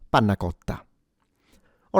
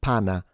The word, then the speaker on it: panna: Likewise, you have 2 N. So, it's not pana, it's pana.